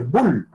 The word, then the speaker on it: Boole: por ejemplo, álgebra de Boole, de B-O-O-L-E, se escribe como boom, como que fuera un sonido, boom, B-O-L-E-L-E, como la O-W inglesa, pues, para que diga Boole, que es un famoso matemático y tiene una serie de reglas.